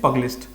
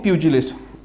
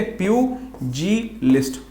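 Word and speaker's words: pugilist: Next is पगलिस्ट, पगलिस्ट नहीं, प्यूजिलिस्ट। तो इसकी प्रोनाउंसिएशन थोड़ी सी ट्रिकी है, वो अपने को ध्यान रखनी है। देखो प्यूजी, ठीक है, प्यूजी लिस्ट, पगलिस्ट नहीं है, प्यूजी लिस्ट, ठीक है, प्यूजी लिस्ट।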